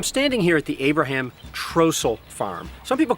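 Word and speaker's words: Trostle: How do we know Trossel is the right way to say it? I don't know. Well, there's Trossels around here living today. They all call it Trossel.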